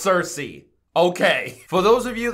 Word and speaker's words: Circe: me to react to I just did the pronunciation and now I already forgot it Cersei Cersei perfect it's Cersei okay for those of you that aren't aware